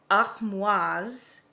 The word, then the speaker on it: Armoise: So in French, it is Armoise Artemisia.